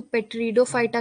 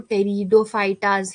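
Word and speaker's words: Pteridophyta: अभी देखो, इसको पेट्रीडोफाइटा कोई नहीं पढ़ेगा, ये बहुत लोग गलती करते हैं, ये पेट्रीडोफाइटा नहीं होता है, इसमें पी साइलेंट होता है, तो जहां भी इसको पढ़ोगे उसको टेरिडोफाइटाज ही पढ़ोगे, ठीक है। पेट्रीडोफाइटा मत पढ़ना, पी साइलेंट होता है इसके अंदर, ठीक है।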